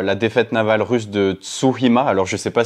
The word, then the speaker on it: Tsushima: est marquée par la défaite navale russe de Tsushima. Alors je ne sais pas si je prononce bien face aux Japonais. Tsushima. Tsushima, oui, pardon.